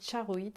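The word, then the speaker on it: charoite: ensuite vous avez alors ça s'écrit chars au heat mais ça se dit charreaux it en fait parce que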